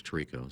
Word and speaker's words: Tirico: I Well, assume it's- Torino meant. Well, it's Tirico, so why don't you learn your names?